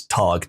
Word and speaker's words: Tag: Uh, I think in Germany it's tag t a g, but in Italian it's dag.